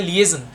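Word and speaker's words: liaison: लिएजन एक ये इसकी करेक्ट प्रोनाउंसिएशन कहलाती है लिएजन।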